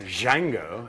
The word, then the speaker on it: Django: the movie Django Unchained Django and the D is silent just like the guitarist